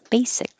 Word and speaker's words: basic: a z mosaic and this s sounds like an s basic this i think is